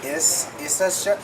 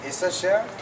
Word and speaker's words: Issachar: Issachar? Issachar.